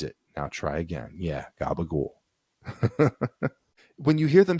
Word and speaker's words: gabagool: You see the second to last vowel, an O sound gets raised. So change that to an U and toss out the last syllable.